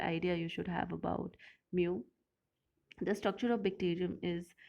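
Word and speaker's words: μ: this form mu m this is pronounced as mu so i hope you will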